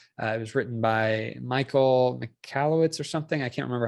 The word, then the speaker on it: Michalowicz: First, which has, it was written by Michael Michalowicz or something. I can't remember how to say his name. I believe I have the book actually. Yeah, it's Mike Michalowicz.